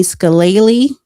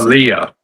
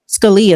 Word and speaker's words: Scalia: incorrect cuz they said um a young Anthony Scalle. That's how you pronounce Scalia. Scalia.